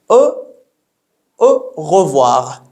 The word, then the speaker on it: au revoir: In spoken French, it is said really quickly, and then it would be heard like au revoir, au revoir, as if we've eaten this little E in the middle, or as it's pronounced.